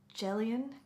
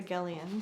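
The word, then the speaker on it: Gelion: beyond the river uh jelian gallian H I think G's are pronounced as yeah Jah hard is so that's River gallian sorry so actually by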